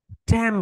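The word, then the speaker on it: damn: ড্যাম ইট, DAM, ড্যাম, এনটা silent letter, বুঝছো? এন হচ্ছে silent letter.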